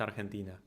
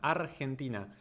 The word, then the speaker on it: Argentina: Because everyone in English says Argentina. Argentina. Which technically in English is correct. You pronounce the G like that. But we don't say Argentina. We say Argentina. Gen. That is the key syllable.